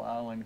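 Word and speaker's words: Islay: Well, it was a great trip to find it, because it was on a very small island called Isla. It's spelled I-S-L-I-L-S-A, Isla.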